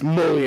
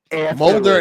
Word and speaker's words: Mulder: It's Mully and Scolder." And it realized Mulder and Scully.